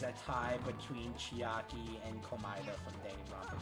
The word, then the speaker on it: Komaeda: I thought it was pronounced Komaida. Komeda, it is Komeda.